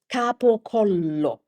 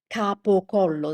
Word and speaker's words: capocollo: In Italian, the word is capocollo. capocollo That's a type of cured meat cured meat.